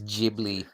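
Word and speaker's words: Ghibli: t-shirt gy jiy ji so it is jibli jibli as the Americans say pronounces it with a soft G okay I guess like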